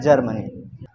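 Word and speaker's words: Germany: क्या पढ़ लेना ग चलो बताओ इसको क्या पढ़ोगे जर्मनी या गर्म जर्मनी ये गलत है ये सही है जर्मनी यह छोटा सा कांसेप्ट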